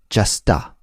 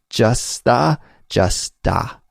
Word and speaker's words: just a: with that article ah then we say just Justa right just a moment just a second yeah